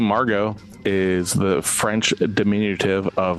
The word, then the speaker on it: Margo: name so the name Margo is the French diminutive of margarit and it's the pronunciation Margo and not Margot uh which means Pearl